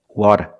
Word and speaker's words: water: water water it's different it's not a rolled R it's a flap t or a fast D not but water water water what's the